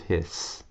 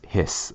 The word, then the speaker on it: His: called the bundle of His. Bundle, kind of funny names, I know. Bundle of His. And even though it's spelled H-I-S, you don't say his, it's hiss, almost like what a snake does.